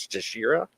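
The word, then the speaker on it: Teixeira: I just kind of looked it up on Google, and they said the Brazilian pronunciation was Texeira.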